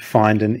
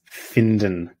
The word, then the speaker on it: finden: to find, but has a slightly different pronunciation. It's not finden, it's finden.